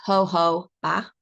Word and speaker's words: jojoba: for our general use fractionated coconut oil now hoba oil um pronounced ho ho ba um it's taken from from the hob seed